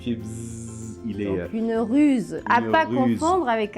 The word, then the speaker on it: ruse: catégorie de la big de pierre c'est une ruse oui alors une russe c'est quand on est